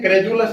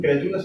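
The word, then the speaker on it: credulous: उसको कुछ भी बताया जाए तो ये क्रेडुलस है। वैसे एग्जैक्ट इसका प्रोनाउंसिएशन क्रेडुलस है, क्रेडुलस भी बोलते हैं।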